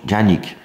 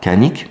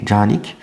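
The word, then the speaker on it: Canik: Oui, parce que ça se prononce Janik. Voilà. Et pas Kanik, mais Janik.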